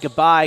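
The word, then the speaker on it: G'Bye: I'm pretty sure I pronounced it right. It's G apostrophe B Y E. Mm-hmm. Yeah. Bye. Goodbye. Yeah.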